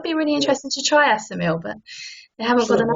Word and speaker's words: Assimil: I think it's pronounced Assimil, Assimil.